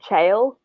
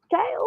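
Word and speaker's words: Chaol: is actually spelled c-h-a-o-l which should be chales but kale and positive it's kale it's kale it doesn't look like it should be pronounced that way um yeah that's basically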